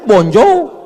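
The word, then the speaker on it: bonjour: Emangnya bahasa Perancis mudah tulisannya bon jowur. Bacanya bonjou.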